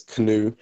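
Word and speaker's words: KNUW: have um new groups I pronounce it as new some people pronounce it as no some people pronounce it as canoe and I've heard other variations as well but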